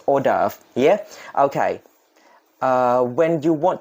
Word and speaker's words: hors d'oeuvre: is it 3 2 1 go hors d'oeuvre คำนี้ออกเสียงว่า hors d'oeuvre สะกดยากมากนึกไม่ออกจำไม่ได้เหมือนกันสะกดว่าอย่างไร but this is how it is pronounced hors d'oeuvre yeah okay when you want to know the